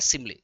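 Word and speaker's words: simile: बहुत इसको स्माइली पढ़ते हैं बस सिमली होगा।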